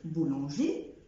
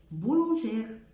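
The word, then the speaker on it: boulanger: اكزامبل تاني كلمه زي كلمه بولانجي، بولانجي، ما بقولش بولانجير.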